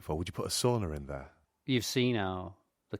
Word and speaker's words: sauna: Because I said sauna to begin with, and I realised that I prioritised the Swedish pronunciation, and I wanted to also make sure that any of our Finnish listeners won't be upset.